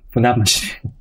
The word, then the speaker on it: Funabashi: The city name is pronounced Funabashi.